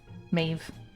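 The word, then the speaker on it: Medb: hear sorry yeah sorry it's spelled me e DB but you know GIC or whatever Irish mave those are not the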